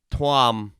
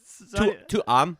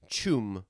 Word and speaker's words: Tuam: Chum. Yeah, Tuam. Chum. Yeah. Well, that's weird. Are you saying a T or a CH? It's spelled Tuam, but Yeah. it's pronounced Tuam. Chew.